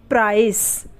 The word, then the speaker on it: price: अब यहाँ पर सी के बाद क्या है? ई है ना? तो इसका उच्चारण क्या है? हम इसे क्या बोलते हैं? प्राइस। क्या बोलते हैं? प्राइस बोलते हैं। ठीक है, तो सी के बाद ई आ रहा है तो सी का उच्चारण स हुआ।